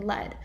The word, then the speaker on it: led: So they're pronounced exactly the same. The verb lead, opposite of follow, forms its past tense and past participle in led, unlike read, whose past tense and past participle are also spelled read.